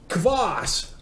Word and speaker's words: kvass: YouTube calls it boss so I asked a friend of mine who's rushing do you pronounce the Kate he said yes the K makes you strong so we're calling it kvass you're asking me what